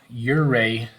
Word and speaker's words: Ouray: But anyway, so several years ago, my family, we jumped into our Jetta and we drove to Ouray, Colorado. Ouray, Ouray. I think I'm pronouncing that correctly.